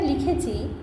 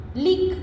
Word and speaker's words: লিখ: যেমন ধরো আমি এখানে একটা লিখেছি রমা কলম খাতা লিখ। লিখ, কেন লিখ উচ্চারণ করলাম? ক্ষয়ের নিচে হসন্ত আছে, লিখো না, কিন্তু এর সঙ্গে কিন্তু অ আর রস্বই দীর্ঘই কিছুই যোগ হচ্ছে না।